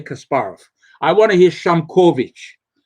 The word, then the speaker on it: Kasparov: They actually they put the accent on the wrong syllable. Now I again I'm a hardcore fanatic. When I hear people say Kasparov is a Kasparov, I want to hear Kasparov.